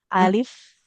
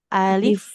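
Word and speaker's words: ألف: Nah, jangan alif ya. Alif. Ada bunyi fa sukunnya. Alif.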